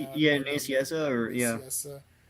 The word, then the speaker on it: Nicieza: And it's It, Fabian it Nicieza, which I can never Nacy, pronounce. yeah, Never Naciesa, or yeah. Nicieza.